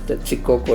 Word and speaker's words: Tetzicoco: Bueno, actualmente le llaman Texcoco, así como pronuncias, Tetzicoco es su nombre original, ya deformado durante los siglos.